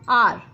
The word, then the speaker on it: hour: Wait for me an hour. Again the sound is A, not H. So we'll use here N.